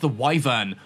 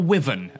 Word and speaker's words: wyvern: the middle we have wyvern or wyen again depending on your pronunciation now wyvern or wyen